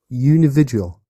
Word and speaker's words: unividual: How do you pronounce it? Unividual.